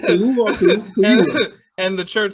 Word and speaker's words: Kaluuya: Hey, pronounce it Kaluuya.